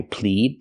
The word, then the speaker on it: plead: With the word plead, we use the long E sound like green beans. I plead the fifth.